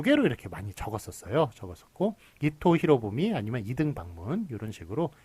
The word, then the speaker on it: 이토 히로부미: 풍신수길이 이제 그런 표기는 틀린 표기가 되겠고 역시 이토 히로부미가 맞지 이등방분이 그렇게 맞다고 얘기할 수 없는 틀리다고 얘기할 수 있는 그런 규정이 되겠습니다. 그래서 14번은 하여간 어쨌든 일본식 인명은 일본식 발음대로 한다.